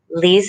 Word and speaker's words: Lise: should use um see it's hard to pronounce my name it's lise that's a pretty name